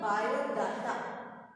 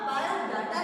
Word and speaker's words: biodata: Because bio बहुत से लोग इसको बोलते हैं biodata, right? Biodata मतलब एकदम गलत प्रोनाउंसिएशन. आपका बायोडाटा नहीं होता, इट्स बायोडेटा.